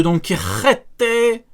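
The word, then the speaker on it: Donquixote: le retour de Don Quixote. C'est comme ça qu'on le prononce.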